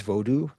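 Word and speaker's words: vodou: But the actual proper term for Haitian vodu is vodu pronounced like that.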